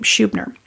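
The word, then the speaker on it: Schubiner: Howard Shubh nur that's a say his name Shoob nur I have to recommend it to you because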